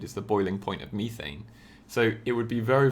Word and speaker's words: methane: So methane, or methane as the Americans say, will always be a